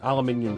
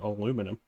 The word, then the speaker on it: aluminium: a metal shell on an aluminium shell or for those of you in America where you say it wrong aluminum shell which is a nice